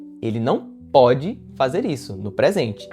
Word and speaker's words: pôde: Quando você utilizar centro circunflexo na letra O, veja que a pronúncia fica mais fechada, fica pode, né?